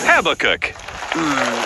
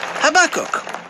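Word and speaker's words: Habakkuk: Please welcome Habacook. It's Habak. What? My name's pronounced Habakok.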